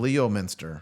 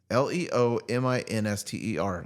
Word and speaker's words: Leominster: Leominster. Spell it out. Leominster.